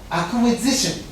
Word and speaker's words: acquisition: And also acquisition, which comes from acquire, acquisition. Acquisition is the right pronunciation, acquisition.